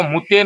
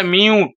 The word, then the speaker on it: mute: আরে বউ, ওটা মুতে নয়, এটা মিউট।